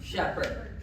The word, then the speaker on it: Shepherd: Just a reminder, rhymes with Sarah, Shepherd, rhymes with leopard if you need that too.